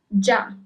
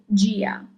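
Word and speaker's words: già: If there wasn't that accent at the end of the word, you will read it as gia. But as you have the accent on the last A, it is ja.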